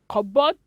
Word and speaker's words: cupboard: it's sam psychology some cupboard and psychology you want to change some cupboard psychology letter p is silent in this words we have silence letter